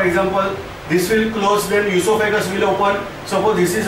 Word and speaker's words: esophagus: Spelling starts with O. Don't pronounce as oesophagus. This is esophagus.